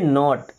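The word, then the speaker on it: knot: आर ओ डी इसे पढ़ेंगे road N ओ टी नॉट क्या बोलेंगे नॉट अब इस वर्ड में भी के साइलेंट है इसे पढ़ते हैं नॉट देखिए एस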